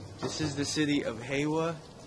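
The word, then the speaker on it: Hyehwa: is the city of hwa I keep pronouncing it hia it's h ye e w h a we're almost up the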